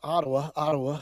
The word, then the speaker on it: Ottawa: You know, my friend there from Ottawa. Is that the correct pronunciation?